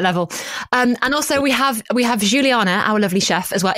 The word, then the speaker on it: Juliana: And also we have Juliana, our lovely chef as well. Is she based on anyone in particular, David Baddiel? Have you called her Juliana? Is it Juliana? No, it's Juliana.